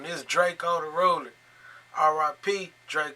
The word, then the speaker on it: Drakeo: tip right this is dracula the ruler rp dracula my bad i'm saying his name wrong this is drako the roller r.i.p drake called the ruler and